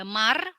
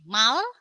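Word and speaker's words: 말: Jadi bukan lagi dibacanya di sini ada mar atau gir, tapi justru dibacanya jadi mal dan gil.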